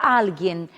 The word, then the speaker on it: alguien: Outra palavra é a palavra alguien. Alguien, embora a grafia seja parecida com o português, o valor semântico também sejam idênticos, mas ela difere em relação à sílaba tônica. O que em português diríamos alguém, em espanhol será alguém.